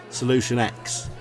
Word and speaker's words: Solution IX: on who they're talking it's spelt solution IX but it's pronounced solution X I think it's kind